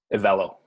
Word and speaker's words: EVELO: And how do I pronounce the name of the company? EVELO.